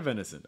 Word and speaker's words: venison: venison i've never had venison i don't know what you want me to say about it i'm sorry uh pronunciation is venison venison um typically short eye short i sound like dances it is in is